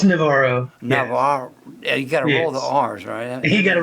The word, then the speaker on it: Navarro: It's Navarro. Navarro. Yeah, you got to roll the Yes. R's, right? You got to roll the R.